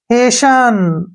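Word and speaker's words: hasten: यहां पर ध्यान रखना टी के बाद न आया तो टी को नहीं पढ़ना है एच को हम क्या पढ़ेंगे यहां पर पढ़ेंगे इसको हे कहीं पर इसका उच्चारण हे ए का ए होता है ठीक है ना एस को स पढ़ेंगे और टी छोड़ देंगे न का उचार न ऐसे हेशन हेशन क्या होता है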